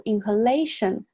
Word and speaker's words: inhalation: substance 到这儿断开然后 the inhalation 注下这个单词 inhale 这里是一个弱读 lation 这个 a 是重读 inhalation 连到一块 nerve inhalation of